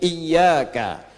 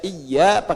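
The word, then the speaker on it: إِيَّاكَ: Sebagian besar ahli dalam membaca Al-Quran semuanya membaca "iyaka" dengan tashid. Ya, ya, benar sekali. Waq Amr ibn bitifiha. Sementara itu, Amr bin Fayid pernah membacanya dengan "iya." Ah, pembacaan ini salah.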